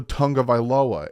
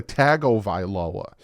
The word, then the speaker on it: Tagovailoa: no n into a tongue of iloa it's to a tagovailoa there's no n why do you keep